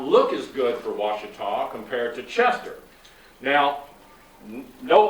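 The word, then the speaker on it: Ouachita: I noticed Dr. Critz said Washita a while ago, and that's not right. It's Washita.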